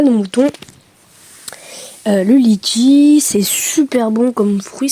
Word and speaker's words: litchi: On a un fruit aussi typique un peu, le litchi, qui se prononce là-bas litchi. Litchi. Moi personnellement, je prononce litchi, parce que j'ai pas d'accent réunionnais pour l'instant.